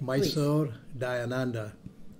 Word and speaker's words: Mysore Dayananda: start out by uh pronouncing my name properly correct my sir diana is the the name and my middle initial